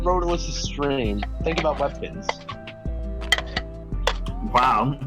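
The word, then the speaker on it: Rotalice2: Rotorless, the two is silent.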